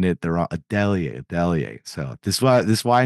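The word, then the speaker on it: Adeleye: I'm probably going to say the name wrong, but I remember you saying it and you pronounced it right. Toon Meese Adelaide, the defensive lineman for Texas State from mm-hmm.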